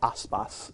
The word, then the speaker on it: Aspas: A's and the s's it's an unusual Norwegian last name aspas is how it's pronounced um by the way